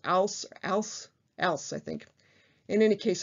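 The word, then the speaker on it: Alys: did some research on how to pronounce that first name a-l-y-s something close to al else i think in any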